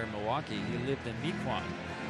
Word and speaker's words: Mequon: I know I'm going to have one of my Milwaukee friends tell me it's pronounce it wrong. Right. They're going to yell at me if I don't tell you. It's Mequon, apparently.